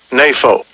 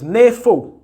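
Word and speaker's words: νήφω: The transliteration, the pronunciation. Strong's G 3525. NAFO. Right. So it's NAFO.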